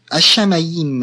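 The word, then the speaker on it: השמים: est ici est là ça ne se dit pas un hymne ça se dit hashamayim un war haïm et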